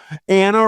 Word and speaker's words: Anna: Anna rhymes with manna.